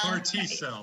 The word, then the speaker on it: CAR T-cell: And in the story, you guys said that you heard about an experimental treatment, I don't know how to pronounce. Is it It's CAR T-cell? CAR T-cell, that's Yeah, correct.